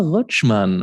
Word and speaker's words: Rutschmann: Jacob okay rochman welcome to the podcast yes thanks for having me and thanks for pronouncing my name in the German Way well it's somewhat awkward